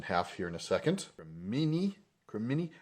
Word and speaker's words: cremini: Cremini. How do I pronounce that? Cremini? Cremini, there we go.